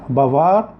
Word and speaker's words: bavard: وفي النطق لاحظوا ان النطق الصفة المذكرة بيختلف عن الصفة المؤنثة. بافار، بافارد. بافار صفة مذكرة، بافارد صفة مؤنثة.